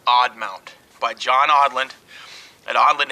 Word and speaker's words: Aadmount: some time here online this is the odd mount aadmount pronounced odd mount by john audland at